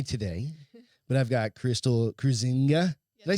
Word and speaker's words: Kruizenga: You'll notice I don't have Beth with me today, but I've got Krystle Kruizenga.